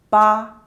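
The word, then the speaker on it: 八: Number eight is pronounced as ba in China. The pronunciation is very similar to that of fa which means getting wealthy like this is far.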